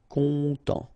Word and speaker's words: content: Final T not pronounced, so E-N, en as well. Content.